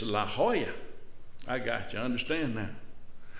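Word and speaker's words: La Jolla: ahead he said well in California the J is pronounced as an H it's San Jose it's La Hoya I got you understand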